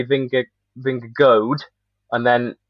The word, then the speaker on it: Vingegaard: i think it's finger finger guard as in like so he really does butcher the double a and goes finger guard a lot of people say vince vince goad and then like rob